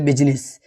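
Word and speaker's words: business: तो आई एक वर्ड में साइलेंट होता है। लगभग एक ही कॉमन वर्ड जैसे बिजनेस। ठीक है? यहां पे आई साइलेंट है।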